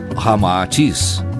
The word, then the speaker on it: Ramatis: masculino e feminino unindo-se Rama e atis cita ao inverso resulta rama atis como realmente se pronuncia em indo chinês informa Ramatis que após